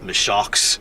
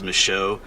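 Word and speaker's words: Michaux: is a mow State Forest it's the end is spelled au ux but it's not mishock State Forest it's micho so sometimes these French words are a little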